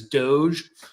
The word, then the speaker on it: DOGE: doj Dodge Doge official I don't know how you pronounce This Acronym I suppose in the douchiest way possible so I think personally for me that's Doge uh like Doge so on Saturday night